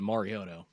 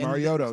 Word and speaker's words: Mariota: well, Roger Goodell did call Marcus Mariota Marioto. Yeah, so. and- Mariota, yeah.